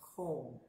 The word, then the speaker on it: kon: double o sound and it has kon which is pronounced cone quadriplegic which means snow